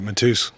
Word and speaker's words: Matusz: is today my guest is Phil Mateus do I pronounced that correctly you know that's right Mateus okay very cool and we had a brief